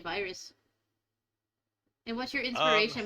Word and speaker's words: Vyrs: because of my computer virus, obviously, but because it was the alias for my music. So it's it's spelled VYRS as a fancy name to say virus.